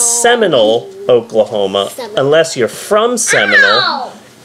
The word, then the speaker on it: Seminole: But if you are from Seminole, you take out the L and the E at the end of Seminole, and you just stretch out an O. So it's Seminole, Oklahoma, unless you're from